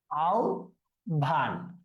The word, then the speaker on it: আহ্বান: তাহলে আহ্বানের উচ্চারণটা কিরকম হবে? আও ভান।